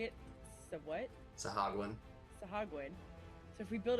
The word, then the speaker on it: Sahuagin: Sahagwin.